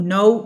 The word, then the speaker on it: know: well طبعا no و no بيتنطقوا نفس الطريقة لكن اللي هنا في K بتكون silent.